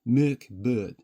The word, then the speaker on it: Mörk Borg: it right now, but as far as I'm aware, it would be pronounced Merk Bird.